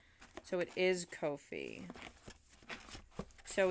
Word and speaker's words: Ko-fi: On Twitter, they say rhymes with no fee. So it is Ko-fi.